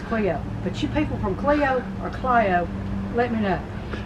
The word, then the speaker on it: Clio: It's spelled C-L-I-O. I've always called it Clio, Alabama.